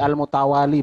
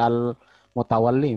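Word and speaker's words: المتولي: Jadi al-mutawali bacanya bukan al-mutawalli Mas Wahyudi.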